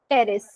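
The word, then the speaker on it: Pteris: सिलोप्स example Psilotum इसका लाइकोप्स सेलेजनेला और lycopodium स्पिनोप्स का इक्विसिडम टिरोप्स का ड्रायोप्टेरिस एडियांटम और टेरेिस पी साइलेंट है सबका।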